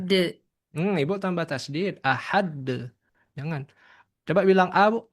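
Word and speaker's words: أحد: Jangan menambah tanda tasdid di dalam Al-Qur'an. Dia harus dibaca sesuai. Kalau sukun ya sukun saja jangan ditasydid.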